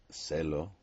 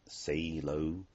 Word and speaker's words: se lo: Okay, and obviously you would pronounce it celo, not say low, but that just makes it easier to remember.